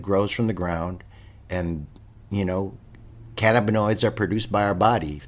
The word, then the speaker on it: cannabinoid: I think you just like that word because it has more than 4 syllables. Bro, it always makes me sound smarter whenever I say cannabinoid.